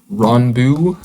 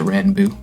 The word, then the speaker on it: Ranboo: less less noted is ron bu i think is how he pronounces it um i might instinctively pronounce it ran boo but i think he pronounces it wrong his success is pretty